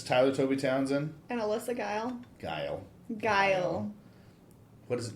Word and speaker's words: Geil: Oh, did I spell it wrong? Is it I-E? No, it's Geil. Geil, that's what I said.